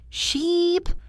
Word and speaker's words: sheep: The vowel sound in ship is short and sharp. Ship. The vowel in sheep is long and stretched. Sheep. The length of the sound is the key.